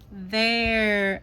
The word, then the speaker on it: there: That eer is a pretty tricky guy. Air. There. one sound air and that e is silent.